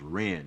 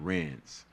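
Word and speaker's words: Rennes: was gonna ask you, so it's pronounced Ren, not Renz.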